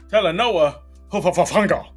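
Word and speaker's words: Talanoa Hufanga: Telanoa Hofafanga.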